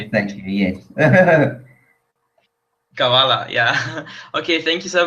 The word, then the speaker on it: Kavala: Kavala, yeah.